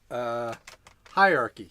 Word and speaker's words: hierarchy: Hierarchy. Hierarchy. You do say the H in hierarchy? Yes.